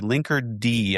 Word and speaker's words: Linkerd: Linker D. Am I pronouncing that right? Because I've heard other people say like linkard and linker link rhymes with Cardi B.